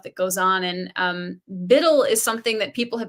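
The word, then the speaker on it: BUIDL: crypto they'll spelled it they'll spell it Bui DL like Biddle and black rock actually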